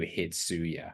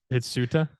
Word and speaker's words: Hitsuya: There's no way you pronounce that name, Ryu Hitsuya. Ryu Hitsuta? That's not a T, that's a Y, Paul. It's Hitsuya.